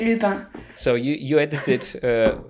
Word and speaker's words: Lupin: pronouncing it correctly but lupin in french you say lupine so you you edited